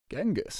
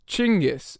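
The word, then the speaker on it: Chinggis: so genus it's pronounced chingis actually chingis yeah Cornelius can you pull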